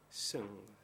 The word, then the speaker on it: Soeung: Sun, and it is written as follows: Soeung, Sun. Apparemment, j'ai bien prononcé.